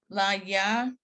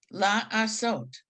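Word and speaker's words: לעשות: La, laya, there's no ya there anywhere. La, okay, la, sot. la asot, See that? la asot. Okay, I put in the ya sound, Right.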